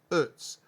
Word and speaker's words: Utz: You know, Utz actually employs a lot of people in Hanover, and the right way to say it is like Utz.